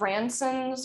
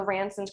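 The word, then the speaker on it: Ranson: sense um um and it's spelled r-a-n-s-o-n it's like ransom but with an n instead of an m um okay the other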